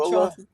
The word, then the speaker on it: Gullah: He said, "Yes, I'm Geechee Gula from Gula." And hell no, I'm not Kwame. It's called Gula, right? It's pronounced Gula, Geechee Gullah, right? Gullah, like that, right?